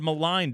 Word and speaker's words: maligned: much maligned Alexander gorv he hit those G's hard in gorev yet the word maligned has a silent G you know big game